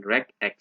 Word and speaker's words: regex: And here is the pronunciation regx.